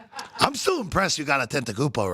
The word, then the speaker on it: Antetokounmpo: Giannis Antetokounmpo. I'm still impressed you got Antetokounmpo right.